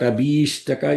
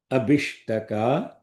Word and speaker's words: abhishtaka: Not abhishtaka is incorrect, because the sandhi doesn't make it long I. So the correct pronunciation and the context is abhishtaka without long vowel.